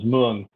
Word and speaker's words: Mueang: In contemporary Vietnam, this term is still usually pronounced as Mueang.